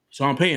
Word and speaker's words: Payton: Broncos when he was AR coordinator Shawn pyton Shawn pyton I said it right yeah right but he